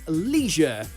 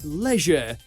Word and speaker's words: leisure: with the national variations in America you'll almost always hear people say Leisure like it's got an extra e hidden somewhere while in the UK it's more like Leisure as if the I